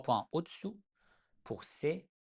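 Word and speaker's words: ث: For Se, 3 dots above. In Persian, it is pronounced, just like s in French.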